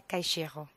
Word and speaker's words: Caixeiro: Oui, mon nom c'est en fait Caïchero. Voilà, j'ai à mes côtés Caïchero.